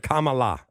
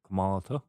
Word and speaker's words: Kamala: How do you say it so you don't make the liberals mad? What is it? Kamala. Don't say Kamala. If you say Kamala, you're a bad dude. Kamalata? I think it's Kamala. Kamalata. Yeah, something like that.